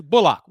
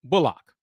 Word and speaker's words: Bullock: about that Reggie bulock yes and it is bulock one more time it is pronounced bulock so cou fans keep